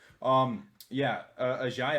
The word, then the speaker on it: Agiye: I got corrected before, and I still say Aggie. Agiye Hall, freshman incoming to Alabama.